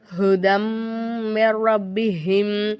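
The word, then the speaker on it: هُدًى مِّن رَّبِّهِمْ: skip பண்ணிரனுமா அப்படின்னு கேட்டிருந்தாங்க ஆமா சத்து செய்யப்பட்ட எழுத்துக்கு முன்னாடி உள்ள எழுத்துல துக்குன்னு வந்திருந்துச்சு அப்படின்னா கண்டிப்பா அந்த அந்த எழுத்து நம்ம வந்து உச்சரிக்க கூடாது சரிங்களா அப்ப நம்ம என்ன செய்யணும் அந்த நூனை நம்ம விட்ரனும் ஹுதம் ரப்பிஹிம் அப்படின்னு நம்ம என்ன செய்யணும் சொல்லணும்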